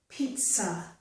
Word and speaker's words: pizza: have the letter T, but we do have the sound T. So in this word, we get pizza. There's a sound T, so following that, the Z makes a S sound.